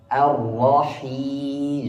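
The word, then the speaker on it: الرحيم: R E O E A iftah iftah buka A A R ar O Erah arrahim jarril faqal asfamul harakati kasr kasrahnya ditekan rahangnya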